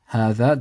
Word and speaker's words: هذا: The first is هذا, the alif is pronounced but not written.